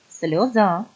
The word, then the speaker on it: сльоза: шосте читаємо разом слова сльоза наголос на останній звук шахи апельсин перець моря